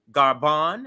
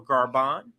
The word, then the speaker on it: Gabon: of what's happening the cool that's happening in garban and that's g-a-b-o-n it's it's pronounced French in a French way so garban is the name of the country let's listen